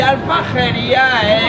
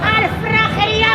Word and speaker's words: Aljafería: Alfrajería, maño. Alfrajería. De toda la No, vida. no se dice así.